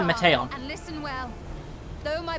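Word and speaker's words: Meteion: teeth yeah me on i don't like her official pronunciation meteon i prefer mateo and listen well though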